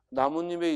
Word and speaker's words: 나뭇잎: 그런데 조심할 것 나뭇잎에 일어나는 의문현상은 니은 첨가지 비음화가 아니죠. 자, 나무와 잎이 만났어. 근데 발음했더니 뭐가 일어났어? 나뭇잎. 즉 니은 니은이 첨가된 거야.